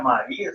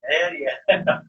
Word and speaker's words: Méria: Oi, Méria. Eu realmente, na pronunciar aqui, eu tive que. Será que é Maria? Será que é Méria? Mas é Méria.